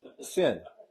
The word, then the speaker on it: Sin: Sin. It's sin. Yeah. But not sin as we know, but that's how you spell it, and that's how you pronounce it, sin.